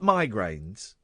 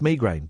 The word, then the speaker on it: migraine: I when I get migraines uh and and I I found out recently it is pronounced migraine but there you go. I'm stuck with migraine now.